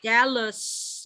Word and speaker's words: jealous: Ini Jealous. jealous. Pakai Z. Jealous. Jealous.